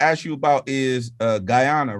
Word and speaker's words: Guyana: i wanted to ask you about is uh guyana right that am i saying i'm saying it right right yeah guyana is it's not a lot of um i